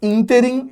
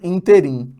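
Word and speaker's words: ínterim: sílaba vogal vogal vogal presta atenção nessa palavra aqui ó é interim e não interim tá sílaba sílaba sílaba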